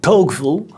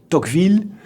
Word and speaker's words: Tocqueville: Americans pronounce his name as Tocqueville, but I will use the French pronunciation Tocqueville, not so much out